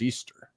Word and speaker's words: Eostre: name uh the German iostre uh and I'm pronouncing the O the e o stre uh e-o-s-t-r-e uh you could just say that's really pronounced Easter and she was the